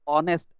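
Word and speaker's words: honest: सगळ्यांना माहिती आहे की हा एच जो आहे हा एच या ठिकाणी सायलेंट असतो हा एच या ठिकाणी सायलेंट असल्यामुळे आपल प्रोनन्सिएशन जे आहे आपला उच्चार जो आहे तो या ओ पासून सुरू होतो आणि ओ पासून आपला उच्चार सुरू होतो ऑनेस्ट असा स्वरध्वनी मिळाल्यामुळे आपल्याला आर्टिकल अन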